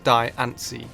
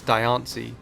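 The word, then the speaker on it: Diancie: So, the correct pronunciation could be the same as the anime with Diani, but the name may be a combination of diamond and fancy.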